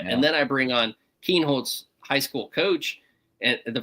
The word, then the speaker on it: Kienholz: I was listening to it and they said Kinholtz and I was like all right. I started changing it to to that and then I bring on Keenhold's high school coach and the first time he's